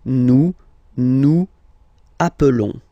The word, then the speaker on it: nous appelons: Okay, nous appelons, and then little link would be perfect, so let's pronounce the whole thing again. Nous appelons, nous appelons. Okay, final S doesn't exist.